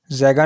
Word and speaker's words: Zeeghan: ज़ैगा नाम के इंग्लिश में स्पेलिंग है ZEEGHAN।